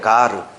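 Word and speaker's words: γάρ: 그게 가르예요. 가르. 가르라고 읽어 저거를.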